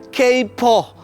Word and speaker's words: kaipoh: Konon istilah ini dari kata Jawa yang berarti nguping, atau juga dari kata Mandarin dialek Hokkien, kaipoh, tulisannya dibacanya keipoh, yang artinya suka mencampuri urusan orang lain.